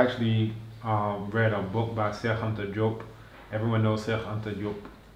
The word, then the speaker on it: Cheikh Anta Diop: We were able to just chit chat in Wolof for a little while, but that's the actual pronunciation. Cheikh Anta Diop.